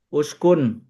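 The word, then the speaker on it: اُسْكُنْ: Uskun dibacanya alifnya domah karena domah di tengahnya.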